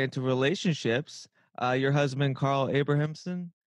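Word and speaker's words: Abrahamsson: kind of segue into relationships your husband Carl Abrahamson Abrahamson is how you pronounce it yeah who I've also been following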